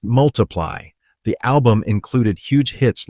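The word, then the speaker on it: ×: Pronounced multiply, the album included huge hits like Thinking Out Loud, Photograph, Sing.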